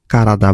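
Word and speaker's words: 体: এটা অনের উচ্চারণ হচ্ছে তাই বা তে, আর কুনের উচ্চারণ হচ্ছে কারাদা বা হ্যাঁ কাতারা।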